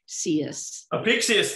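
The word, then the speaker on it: Apicius: kenabala uh albala the the correct pronunciation of apecius is ah a pixius thank you thank you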